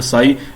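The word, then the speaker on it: psi: अब इस quantum mechanics जो है पार्टिकल को वेव फंक्शन के तौर पर देखती है, जिसके अंदर हम जिसको हम प्रोनाउंस करते हैं साई।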